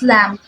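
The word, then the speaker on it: لام: dma so next is lamb lamb is pronounced similarly with the English L with the tongue touching the bumpy area behind your upper teeth to practice to master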